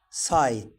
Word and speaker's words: sight: Jan rides his bike and hides behind rock, but he has fright at the sight. لاحظتوا الجي اتش هنا في الكلمتين ما تنطقوش، والاي هنا كانت ظاهرة.